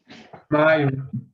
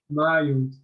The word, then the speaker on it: mild: Maio.